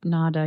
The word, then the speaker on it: Nāda: what are the three parts that make up NADA yoga and am I saying it correctly as well yes exactly so NADA yoga in general is just the yoga of